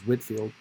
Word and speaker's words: Whitefield: without the e so whitefield or whitfield its pronunciation is whitfield it may have been he may have been